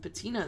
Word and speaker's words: patina: This embossed shield looks like it might be a coat of arms, but the face is so badly encrusted with patina that you can't quite make out what it is.